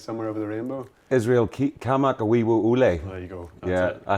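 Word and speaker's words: Kamakawiwoʻole: him, the guy called, I think it's Israel Kamenofsky. It's like a big Hawaiian dude that plays Somewhere Over the Rainbow. Israel Kamak Awiwo Ule.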